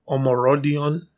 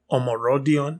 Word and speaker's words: Omorodion: was going on in this game right Samuel omorodion omorodion yeah that's how it's pronounced or just Samu like everybody's going to